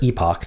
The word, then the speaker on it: epoch: do the fibble and it's uh epic versus Epoch depending on how you would like to pronounce it both are acceptable um so I want